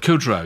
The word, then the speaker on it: Kudrow: for this only this digital laser is it pronounced Kudrow Kudrow yeah who who plays Phoebe did she I